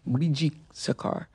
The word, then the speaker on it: Brijee Sarkar: Briji Sakar, is that how you pronounce yep. it? Briji Sakar, attempts to sexually assault her.